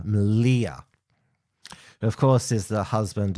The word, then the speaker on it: Malia: That's how you pronounce it, not Malaya. Malia, of course, is the husband of Laura Towler, who's essentially a co-leader of Patriotic Alternative with Mark Collette.